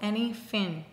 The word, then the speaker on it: Any Fin: have anything goes and no I'm not pronouncing this wrong it's called any fin and that's probably how I sound anytime I say anything literally but anyway this one